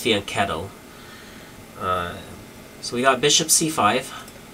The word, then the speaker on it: fianchetto: the kingside fianch fianchetto line i've been saying fianchetto my whole life and someone recently corrected me